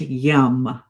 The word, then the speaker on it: yam: And the sound associated here is yam but pronounced yum.